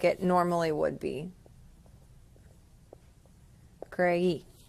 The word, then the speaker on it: creí: Creí, with an accent on the I.